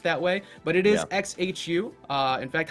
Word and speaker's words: XHU: So it's each letter is pronounced, I guess. XHU is the link.